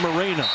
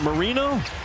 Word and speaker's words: Marino: It's Marino, not Moreno. Okay. He didn't know himself. He then came back and said, wait, our last name's pronounced Marino?